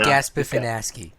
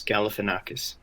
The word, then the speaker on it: Galifianakis: Gaspifinaski. Galifianakis. I've learned how to pronounce it. It's Galifianakis.